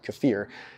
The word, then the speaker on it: kefir: things like kefir you might know it as kefir but apparently it's properly pronounced kefir if you look at regular kefir the recent